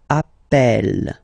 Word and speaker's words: appelle: So when you get this a vowel, and then you get a double consonant, and well, they are the same, then it does change the pronunciation of a. You tend to pronounce it like a, really open. That's the reason why you pronounce it appel, appel, okay?